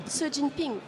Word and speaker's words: Xi Jinping: Xi Jinping. Ça, c'est la vraie prononciation. Et alors, un journaliste, il va... Xi. Ah, c'est mal. Le XI en chinois va se prononcer S.